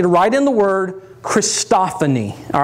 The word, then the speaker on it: christophany: write in the word christophany all right let me spell it for you first of all c-h-r-i-s-t just like christ christophany and then o-p-h-a-n-y christophany write that in and what